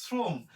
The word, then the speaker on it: শ্রম: এরপরে যেটা আছে শ্রম, শ্রম তালবশের সাথে রফালা থাকলে তালবশের উচ্চারণ ইংরেজি এস এর মতো হয়, শ্রম।